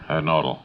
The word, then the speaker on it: Nodal: Leopold Nodal or Nodell. I didn't get the pronunciation, sir. Nodal.